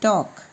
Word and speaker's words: talk: एल यहाँ पर silent होगा, तो TALK टॉक, फिर यहाँ पर एक L साइलेंट होगा।